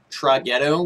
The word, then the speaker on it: Traghetto: But it is by, I believe, Traghetto would be the way you would pronounce that, I guess. Just T-R-A followed by the word ghetto altogether meshed up in one word.